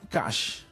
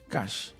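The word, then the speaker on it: Qash: La startup colombiana Cash, que se escribe con Q, Cash, que permite a usuarios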